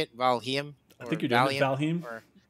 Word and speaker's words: Valheim: Valheim. I think you're doing Valheim. I think you just said Valium, but that's a different game.